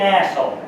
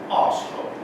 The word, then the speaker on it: arsehole: Listen, pal, you're being an asshole. And if anyone's going to be an asshole around here, it's going to be me. That's for sure. It is pronounced arsehole. And I think you will